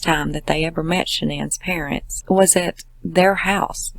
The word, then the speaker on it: Shanann: on to say that she was worried about pronouncing shenan's name wrong because her parents called her shannon